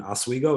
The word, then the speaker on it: Oswego: From owning properties up in Oswego, is that right? Yeah, good pronunciation.